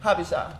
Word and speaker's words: Habesha: And how you pronounce that again? Habesha.